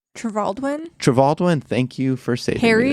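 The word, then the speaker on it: Trevaldwyn: And the choice of Henry, I'm going to pronounce his name wrong, but Henry Trevelyan. Trevaldwin, thank you for saving Harry me.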